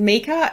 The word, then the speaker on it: Mieke: So yeah, my name's Mee-ka. It's a very strange name. It's mispronounced and misspelt all the time. It's actually a nickname in Holland for Maria. My grandma's name was Maria, so her sister used to call her Mieke. And so, it's a Dutch name and it's spelled M-I-E-K-E, which is really weird,